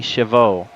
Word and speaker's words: Chavez: thanks for pointing out the correct pronunciation for Alan Chavez it's actually chaveau yeah I was